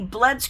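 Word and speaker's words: BLEDS: I was approached by the Bloods craft supply store on Amazon because I think that's how they pronounce it it's all caps b-l-e-d-s just to try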